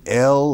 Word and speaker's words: El: like an inhale it's it's l like an elephant but it's also El like in Danielle because that's what it